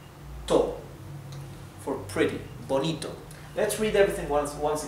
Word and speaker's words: bonito: than aoso it's pretty again here I want you to focus on the T and on the O's so not Bonito okay it's B also the t is to not to for pretty Bonito let's read everything once